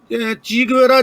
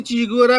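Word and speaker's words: Che Guevara: ची गुवेरा जिन्हों असी ची गुवेरा कहने लेटिन अमेरिका वाले उन्होंने चे प्रोनाउंस करते हैं चे गुवेरा कहते उन्होंने तो गल इको ही आ।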